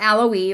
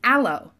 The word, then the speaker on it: aloe: the E and then the E is silent it's not a low E or Loa or le it's a low so four different words